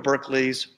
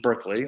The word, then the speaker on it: Berkeley: old reverend dr george berkeley or barkley as it would have been pronounced then and his new wife